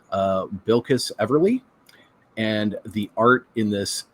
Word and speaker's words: Bilquis Everly: Like Steve mentioned, written by Tom King with art by, let me pull up the pronunciation, Bilquis Everly.